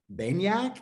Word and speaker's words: Baniak: I'm here with Matthew Baniak.